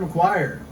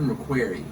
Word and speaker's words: McQuarrie: Writing, Christopher McQuire. Thoughts? I think it's pronounced Christopher McQuarrie.